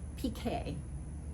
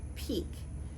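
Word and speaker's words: piqué: of a pk knit people often will call it peak but peak is something different and it has to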